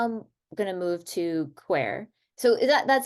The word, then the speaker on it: Qwear: yeah so now I'm going to move to quer so is that that's how that's how you would like me to pronounce it qu yeah okay so what is the mission of quer so qu's mission is to improve quality of